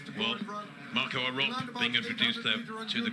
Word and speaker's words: Arop: Some of you listening to me will think, no, he pronounced his name Arop. He's been around for quite some time now. But I'm going to say Arop.